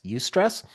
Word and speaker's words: eustress: a word called eustress it's spelled e-u-s-t-r-e-s-s you stress and that is good